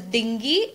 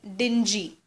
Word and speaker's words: dingy: It's not pronounced as dingy, it's dingy.